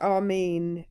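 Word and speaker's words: آمين: It's actually pronounced Armen in uh in Arabic.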